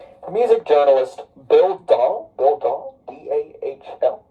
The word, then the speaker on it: Dahl: The music journalist Bill Dahl, D-A-H-L, I think, described, yeah, because, like, it's spelled like Weird Doll.